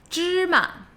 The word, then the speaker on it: 芝麻: Okay, so that's pronounced first tone, neutral tone. The actual character of the tone is second tone. Ma. But in a lot of spoken Mandarin, the second character is often just shortened to a neutral tone.